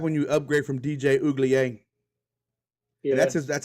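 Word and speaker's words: Uiagalelei: Um, That's what happened when you upgrade from DJ Uglier.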